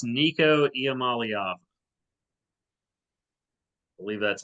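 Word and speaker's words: Nico Iamaleava: I believe it's Nico Iamaliava.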